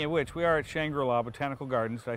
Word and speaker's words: Shangri La: how appropriate speaking of which we are at shangra La botanical gardens did I say it right that's